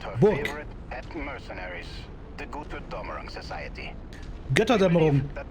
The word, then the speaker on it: Götterdämmerung: They're pronouncing Götterdämmerung completely false to saying Gutterdämmerung.